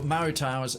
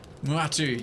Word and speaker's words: Muatu: Muatu's aid, or Marutao's aid. You were saying? Okay, there he is. Muatu, yeah, I was pronouncing it right the first time. Muatu.